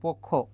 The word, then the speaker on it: পক্ষ: ত্র হবে সংবাদপত্র আর এখানে পক্ষ আছে পক্ষ না এখানে কি হবে খিও যদি শেষে থাকে তার উচ্চারণ করার ক্ষেত্রে ক আর কি হয় খ তাহলে পোক আর কি হবে খো হবে পক্ষ আরেকটা দেখো ঐশ্বর্য এটার